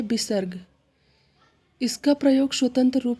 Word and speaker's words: स्वतः: इसका प्रयोग स्वतंत्र रूप से नहीं होता, यह वर्णों के बाद प्रयोग होता है। इसका चिन्ह 2 बिंदु होता है। इसका उच्चारण हा की तरह प्रयोग होता है, ये भी याद रखिएगा।